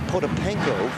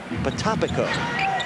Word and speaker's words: Potapenko: Well, we've been saying Potapenko for weeks, but it's actually Potapiko. He changed the pronunciation on everyone in training camp.